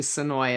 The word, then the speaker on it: Senoia: So it is the Sonoya Dead Bash. I think it's actually Sonoy. It looks like it should be pronounced Sonoya, but it's actually Sonoy.